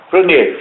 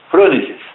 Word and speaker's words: frônesis: Fronese, faz, né? Ela não cria. É frônesis ou fronese? Frônesis, tá? Eu que de vez em quando erro, né? Mas é frônesis, o nome, a pronúncia é certa.